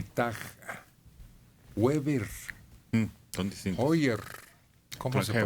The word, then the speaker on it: Heuer: Hoyer. ¿Cómo Con se Heuer. pronuncia eso? Heuer.